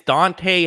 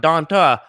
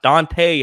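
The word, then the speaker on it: Dont'a: the list number ten it is dante hightower not donta hightower i made that mistake in one of my earlier videos calling him donta hightower like it's spelled uh no dante hightower uh you know he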